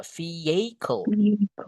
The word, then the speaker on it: vehicle: Viel ini brock tulis cara bacanya ya. Vehicle, guys. Iya. Vicle vehicle the common mistake is just vehicle.